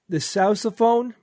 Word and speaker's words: sousaphone: So I said the sousaphone because, it's spelled S-O-U-S-A, and that's Sousaphone?